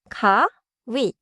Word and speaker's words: 가위: Last one, 가위. Two syllables. 가위.